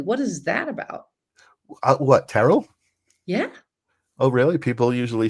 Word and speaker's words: Terrell: And you pronounced my name correctly. What is that about? What, Terrell?